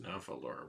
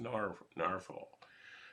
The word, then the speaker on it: Nahvalur: um narwhal which looks like it should be pronounced navalur but actually I'm told it's pronounced narvel so that is different in the fifth version